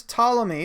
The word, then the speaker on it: Ptolemy: around 150 AD Claudius Ptolemy the P is silent Ptolemy's use diagrams in